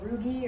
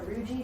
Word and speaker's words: rugae: All those little ridges, they're called rugae or rugae, depending on how you want to pronounce it.